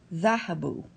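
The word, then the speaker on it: ذهبوا: to say they went the Abu you'll notice when you look at the word the Abu that it ends with an Aleph the a love however is silent and finally in this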